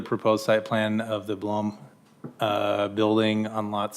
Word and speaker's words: Blom: site plan of the Blom. Am I saying that right? Blom? Blom. Blom? It was blown. You had it right. Halfway in between? You're Blom? right. Okay. I've been saying it wrong.